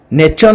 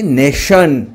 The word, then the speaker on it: nation: उदाहरण NATION जार अर्थ राष्ट्र eighty T पर देखो आयो अछि तेणु तार स उच्चारण रहइबो। आमाकु नेचन कहबानी नेशन अर्थ राष्ट्र।